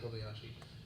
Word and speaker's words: Kobayashi: One of the so I don't think we've named him yet, but the person whose kind of brainchild this is Kei Kobayashi.